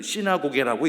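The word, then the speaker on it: συναγωγή: 신약 성경이 기록된 최초의 원전 언어인 고데헬라오는 저렇게 알파벳을 쓰고 읽을 때는 시나고개라고 읽습니다.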